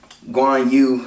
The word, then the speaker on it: Guan Yu: the scenes i do like i like when guanyu i believe that's his name let's say i